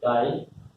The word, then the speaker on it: chi: Mole fraction divided is denoted by this, pronounced as chi mole fraction.